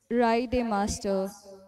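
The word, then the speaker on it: Reidemeister: So I do not know how to pronounce the name, so I wrote the pronunciation here. It's Raide Master.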